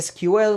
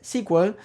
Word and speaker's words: SQL: de squel de hecho se le sigue diciendo sel a sql no se dice sql muchas veces se le dice squel si ven algún tutorial en inglés Probablemente lo vean de esa forma luego en el 79